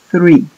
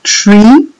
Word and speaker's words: three: z para pronunciar th peguen la punta de la lengua los dientes de arriba y soplen aire entre la lengua y los dientes y digan three si dicen Tree O tre están diciendo